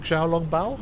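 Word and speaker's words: xiaolongbao: And he Really said that I should go for the, how do you pronounce it, pork xiao-long bao?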